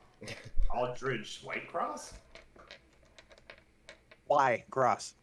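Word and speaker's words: Wycross: Wherever I Go Aldrich y cross that is not gonna be hard to remember just hard to pronounce Aldridge white cross why gross w-y-c-r-o-s-s like why across the street yeah yeah see that's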